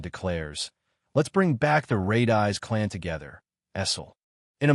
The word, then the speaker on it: Redice: Wiping a tear from her eye, Essel smiles brightly and corrects his pronunciation. It's Redice.